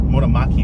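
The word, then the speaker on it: Motomachi: made in the GR Motomaki factory, did I pronounce that right? Motomaki factory.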